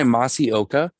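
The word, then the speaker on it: Masi Oka: They're played by Masaoka. I believe is how you would say his name.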